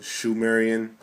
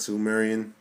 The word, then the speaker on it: Sumerian: Don't quote me on this, but I believe it's actually pronounced Shumerian with an H and not Sumerian.